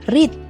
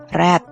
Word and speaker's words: read: seperti y Sebagai contoh untuk read jika digunakan sebagai verb 1 maka pronounciation-nya adalah pengucapannya adalah read sedangkan jika digunakan sebagai VB 2 atau verb 3 maka pengucapannya akan berubah menjadi Red Wah banyak juga ya satat